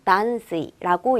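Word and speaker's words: 断水: 읽으면 미즈가 되는데 요 단수는 음독 명사가 되어서 우리 딴 쓰 이라고 읽어 주시면 되요 답은 몇번이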